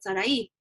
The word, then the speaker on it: Sarai: It looks like Sarah, but it's not, because it has an I at the end. And so I said Sarai, right?